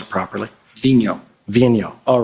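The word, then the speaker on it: Vigneault: name we've all been debating about how to pronounce it properly Vino all right so David Vino he stated that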